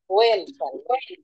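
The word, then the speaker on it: when: আমরা হোয়েন বলছি, নো, এটা জাস্ট ওয়েট এ বিট, এটা উচ্চারণ করতে হবে হচ্ছে ওয়েন। হুম, এটা উচ্চারণ করব ওয়েন, ওয়েন, এখানে হওয়া না বলে আমরা অ বলবো, ও বলবো।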